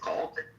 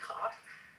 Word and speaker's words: caulk: It's actually pronounced caulk. Caulk? Caulk. Caulk? But we say caulk because it's funner.